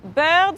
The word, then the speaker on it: bird: J'ai dit bird signifie barbe.